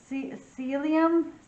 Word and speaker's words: psyllium: Psyllium?